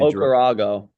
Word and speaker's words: Okarago: How do you say his last name? Okarago. Okay. You said a lot better than me.